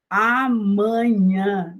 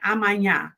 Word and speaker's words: amanhã: Amanhã. Não é amanhã, é amanhã. Nós vimos que é assim porque nós temos duas consoantes nasais, que é o M e o N. Então, por isso falamos amanhã, ou simplesmente manhã. Nós vimos também que essa